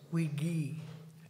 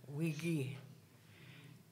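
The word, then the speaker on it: Wigi: you to remember that the bay is Wiggy it's a hard G Wiggy and um I thought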